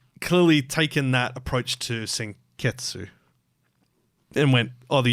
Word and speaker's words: Senketsu: So Senketsu is pronounced as Senketsu, which is like basically they've just taken the U off of it and assumed it's like the same as Des.